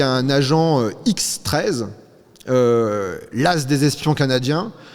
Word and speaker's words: XIII: En tout cas se matricule, ce X I XE hein, pour qu' on prononne bien, on prononce bien le X13.